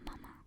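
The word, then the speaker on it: ま: And you pronounce it as in the manager.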